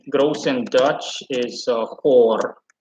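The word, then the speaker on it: goor: dutch uh in gross and dutch is uh hor g double o r and you can already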